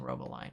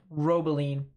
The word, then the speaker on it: Robeline: uh robola or robeline keep saying Robo line robeline sell us a very nice